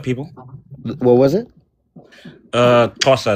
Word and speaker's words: Xhosa: I'm part of the Xhosa people. What was it? Xhosa. It's a pretty difficult word to How do you pronounce.